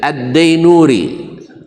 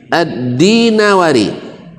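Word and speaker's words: ad-Dinawari: Hadis riwayat addailami sah yang benar bacanya bukan addilami tapi addilami sama dengan adddainuri. Rata-rata Buya kita ngajarkan adddainuri. Yang benar adalah addinawari karena nisbat pada dinawar.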